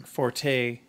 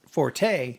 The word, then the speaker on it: forte: know so great yeah i'm pronouncing Forte incorrectly or I'm sorry i'm pronouncing fort correctly yeah but the rest of the world calls it forte yeah then it was